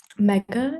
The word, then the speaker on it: Mega: uh I choose um mega is that how you say it yes my name is Mega I use a she